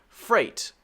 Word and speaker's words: freight: Also, freight. F-R-E-I-G-H-T.